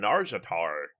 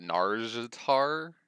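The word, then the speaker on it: Nazjatar: Let me start off by saying I don't know if I'll ever be able to pronounce this Naga region correctly. Is it Narjatar? Is that right? For Narjatar. There's a Narjatar that always says it. Just think about her. There's an S snuck in there somewhere.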